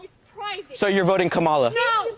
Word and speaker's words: Kamala: to say her name earlier you said Kamala the way she pronounces her name is Kamala you don't work with